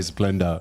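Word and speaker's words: Splenda: Splendor. That's how us Australians say Splendor. Yeah. How you Americans say it? Splendor. It sounds exactly the same to me.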